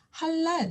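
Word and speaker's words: הלל: 오니까 랄하고 읽게 됩니다 그런데 이때 라드는 바로 앞에 있는 모음 앞에 있는 음절에 영향을 미치기 때문에 하랄이 아니라 할랄 하고 영어처럼 앞뒤의 발음에 영향을 주면서 읽습니다 다시 한번 아 모음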